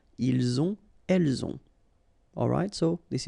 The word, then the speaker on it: ils ont: the two, vous avez, ils ont, okay, final T not pronounced, and then we make the liaison, ils ont, elles ont.